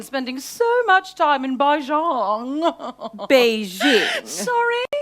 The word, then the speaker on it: Beijing: what with Sebastian spending so much time in bahjong Beijing sorry it's pronounced Beijing oh we're teaching little talk when Mandarin at